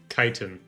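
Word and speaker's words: chitin: You get Chitten Spurs, gauntlets, mandibles, exoskeletons. Chitan. Kitan. Kitan. Oh, that's how you pronounce it.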